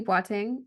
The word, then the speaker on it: Boateng: in there right so my name is batting actually you did awesome at pronouncing my last name so that was that